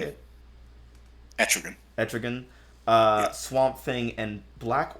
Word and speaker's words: Etrigan: Etrigan.